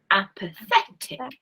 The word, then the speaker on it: apathetic: Apathetic. Now that's not pathetic, which is a different word. Okay, this is apathetic. Different word stress.